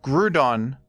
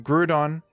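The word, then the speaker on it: Groudon: agreed upon pronunciation A lot of Pokémon people mispronounce them they say them wrong but gudon does don't have that problem gudon is a fantastic Pokémon a definitive legendary I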